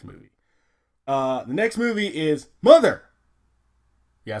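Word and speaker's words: mother!: The next movie is Mother. Yeah, I say it like that because there's an exclamation point at the end of it. Mother.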